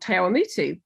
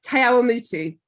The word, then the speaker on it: Te Awamutu: born in New Zealand in a place called Te Awamutu, which not many people can pronounce, let alone know. Say that again. Te Awamutu. Te Awamutu. Te Awamutu.